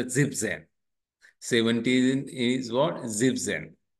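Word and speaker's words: siebzehn: क्या लगा है सेन सो इट इज अ जिप जन 17 इज व्हाट जिप जन 17 क्या है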